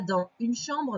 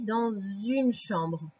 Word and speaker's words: dans une chambre: exemple par exemple ici on dit pas dans une chambre mais on dit dans une chambre d'accord on fait ce